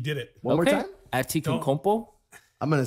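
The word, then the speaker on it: Antetokounmpo: Atikankompo? Yes, you did it. One more time? Atikankompo?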